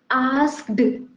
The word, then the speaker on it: asked: This becomes asked, we people think, because at the end D is there, D for dog. But actually, the sound, the correct pronunciation of this word is asked. The sound will be there, not the.